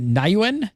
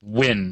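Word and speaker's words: Nguyen: Is it Nayuen? Nayuen? I think I'm pronouncing the last name correct. John asks, it says, that's what usually type pronounced win, isn't it? Win? G-U-Y-E-N, usually pronounced win.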